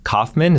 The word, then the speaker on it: Kauffman: Today, I'm excited to be joined by my friend and brother, Jospeh Kauffman.